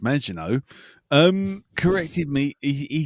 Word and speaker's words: Maginot: And yes, and how it's Maginot, as in the Maginot Line.